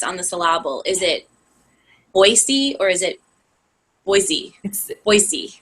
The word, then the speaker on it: Boise: to learn but like we all grew up saying Boise with a z but when you move here everybody tells you right away it's not pronounced that way so don't pronounce it